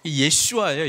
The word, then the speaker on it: 예슈아: 땅으로 데려갔듯이, 여호수아는 이제 예수라고 하는 이 발음에 히브리식 발음이거든요. 예슈아예요. 예슈아.